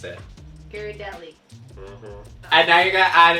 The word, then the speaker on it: Ghirardelli: You pronounce it. Ghirardelli.